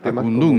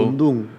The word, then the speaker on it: Akundún: Acundum, lleva el acento en la U. Acundum, correcto.